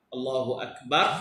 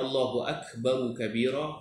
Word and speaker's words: Allahu Akbaru Kabira: Tidak membatalkan solat Allahu Akbar, tapi yang tepatnya Allahu Akbaru Kabira. Pasal kita baca wasal, kita baca sambung, tak perlu kita berhenti Allahu Akbar. Dia salah tentang cara baca je, salah tak membatalkan solat, insyaAllah. Jadi kita baca Allahu Akbaru Kabira, baru kabira, itu lebih tepat.